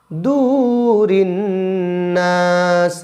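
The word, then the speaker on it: صُدُورِ: ফিসু ফিসু ইউসু ফিসু দূরিন্নাস দু টেনে বলতে হবে দূরে আল্লাজিন্নাস দূরিন্নাস আল্লাজি ফিসু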